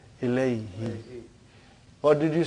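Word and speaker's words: إليهِ: musical to your ears, we change who into he. What do you say? Ilaihi.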